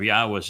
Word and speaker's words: Yahweh: I go through the entire Hebrew lexicon and demonstrate without any doubt that the proper pronunciation of God's name is Yahweh.